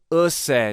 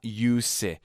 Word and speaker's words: Usseewa: I think I've been saying it wrong. Usse, not use.